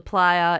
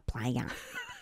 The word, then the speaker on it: playa: Nevada it's called the Playa it's a huge flat space oh is that how you say it I just went the player what is the player